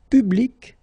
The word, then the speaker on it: public: and then put q but then phonetically if you pronounce it you you pronounce it exactly the same way okay so let's see